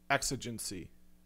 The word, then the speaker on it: exigency: sueny uh well let me hear what it's pronounced like exigency oh exigency exigency yeah okay so it's exy wow this